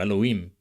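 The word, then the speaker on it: אלהים: In Elohim, you can hear the longer vowel in im in Biblical Hebrew, Elohim, Elohim, or Eloim.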